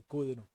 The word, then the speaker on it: cdr: la cola en Rocket se llaman car y Kuduro esta cdr se pronuncia Pero entonces vean que si ya están